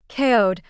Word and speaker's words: Aoud: Aoud, whose name rhymes with coyote, was supposed to be in a rush.